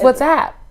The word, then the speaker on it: WhatsApp: It's WhatsApp. WhatsApp? Okay, not what's up.